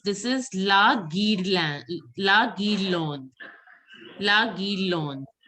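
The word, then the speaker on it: guirlande: La Guirlon. E is not to be pronounced. La Guirlon.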